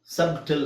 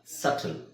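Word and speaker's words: subtle: ಸಬ್ ಟಿಲ್ ಅಂತ ಹೇಳಕಆಗಲ್ಲ ಸಬ್ ಟಿಲ್ ಅಲ್ಲ ಸಟಲ್ ಸಟಲ್ ಸೋ ಇಲ್ಲಿಬಿ silent ಹಾಗೆ ಸಕಮ ಸಕಮ ಬಿ ಸೈಲೆಂಟ್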